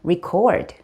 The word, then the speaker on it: record: 그런데 녹음하다라고 할 때는 record, record. 똑같은 단어예요. 똑같은 스펠링인데 R-E 뒤에 오는 C-O-R-D, cord, 즉 이음절에 강세가 있어요.